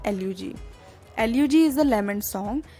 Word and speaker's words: elegy: एल्यूजी की spelling ELEGY, जिसको generally हम गलत प्रोनाउंस करते हैं एज एलिजी, that is wrong. इसकी जो करेक्ट प्रोनाउंसिएशन है वो है एल्यूजी।